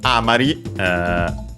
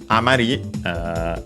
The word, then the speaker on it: amari: And he says Amari Yokunai. Amari is another, well, technically on its own a noun, accent on the last syllable, which would mean remainder, remnant, rest, and so on.